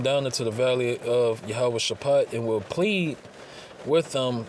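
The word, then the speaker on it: Jehoshaphat: the valley of it say Jehosaphat but and the proper way to say it is yahawah shapat all right all right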